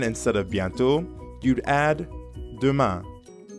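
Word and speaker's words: demain: sounds a lot like the ending of bian now you practice repeat after me ma duma great job now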